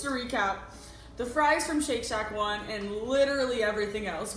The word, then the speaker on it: Shake Shack: at bit like that it's Shake Shack and I like pronounce it like cheek sad but CJ yeah Shake Shack not seek sanic learn pronounce trace everything